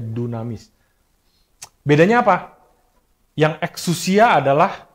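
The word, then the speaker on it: δύναμις: Tulisannya dinamis tapi bacanya dunamis.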